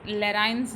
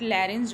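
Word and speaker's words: larynx: ठीक है, कई लोग इसको लैराइंस जो है वो प्रोनाउंशिएट करते हैं, बट लैरेंस जो है वो सही प्रोनाउंसिएशन है इसका।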